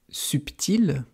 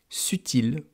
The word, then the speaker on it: subtil: Par exemple, le mot subtil, subtil, il y a un B au milieu. On l'entend d'ailleurs, subtil, subtil. Eh bien avant, on disait subtil. On ne disait pas subtil.